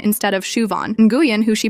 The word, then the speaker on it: Siobhan: There's Siobhan who gets called Sioban instead of Shuvon. Guan, who she pronounces like New Jen instead of Win.